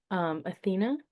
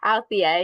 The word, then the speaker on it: Althea: Athena. Sorry, I don't know if I'm mispronouncing your name. That's okay. Althea, yeah. Althea, thank you.